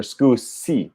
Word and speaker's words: scusi: So is it scusi or scusi? Scusi, scusi. Hmm. How do you say excuse me? Scusi, scusi. Sounds like excuse me with a Z sound.